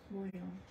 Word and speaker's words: Bouillon: Bouillon. Boudreaux, though. She's still saying it. She's got to pronounce those L's in there.